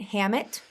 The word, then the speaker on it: Hammitt: right to be here did I say it right Hammet you said it perfectly right spelled you know